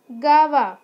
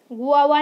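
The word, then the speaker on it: guava: Next है गावा, spelling देख लो आप लोग, जी यू ए वी ए, गावा, गुआवा नहीं बोलेंगे इसको, क्या बोलेंगे, गावा।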